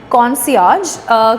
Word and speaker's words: concierge: या concierge, again the spelling is a little different and इसका pronunciation थोड़ा सा different है। इसको बोलते हैं concierge।